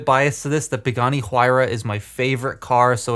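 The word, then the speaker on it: Huayra: I'm a bit biased to this The Pagani huira is my favorite car so it's just so that's just great sorry not the hirra the it is it's spelled h u a y r a the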